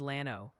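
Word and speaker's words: Llano: Lano is Lano.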